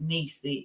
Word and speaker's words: Neecy: I want to say that my nickname is pronounced Neecy.